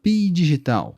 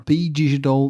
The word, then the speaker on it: phygital: nas mídias sociais o fenômeno é conhecido como P digital um híbrido de físico e digital notas do narrador o texto P digital se escreve p h y g i t a